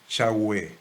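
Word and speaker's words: Yahweh: las biblias por ejemplo la versión reina valera dice jehová y actualmente se consideran que la pronunciación en aquella época más exacta debía haber sido yagüe echagüe lo concreto es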